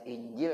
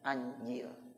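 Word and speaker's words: إنجيل: Anjil, bukan anjing, anjil. Ya, ya, jadi injil, anjil. Ya, jadi hamzahnya bisa dibaca kasrah, bisa dibaca fathah. Kalau kasrah bacanya injil, kalau fathah bacanya apa? Anjil.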